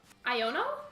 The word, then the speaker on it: Iono: have it I think it's pronounced like ioni but with an Oso iono like that maybe like you